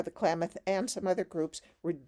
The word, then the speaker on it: Klamath: me in your book was, how do you pronounce the Klamath? Mm-hmm. Is it Klamath?